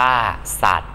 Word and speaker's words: สัตว์: สตางค์ อ่าน ว่า สตาง สัตว์ อ่าน ว่า สัตว์ ซื่อ สัตว์ อ่าน ว่า